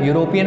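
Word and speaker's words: European: Because E and U are vowel, they are written there, but they are not working in pronunciation. Okay, they are written but not working in pronunciation. You बोलिए आप, यूरोपियन बोलेंगे हम. जब हम यूरोपियन बोलेंगे तो first letter क्या आया, यू.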